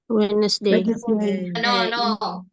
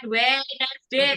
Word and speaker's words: Wednesday: tues Kalau hari Rabu wesday bukan wday bacanya bukan wedday Tapi wedesday wedesday bacanya wedesday dua du bukan wedesday kalau Wednesday kan tiga ini bacanya dua aja wedesday wday wesday wesday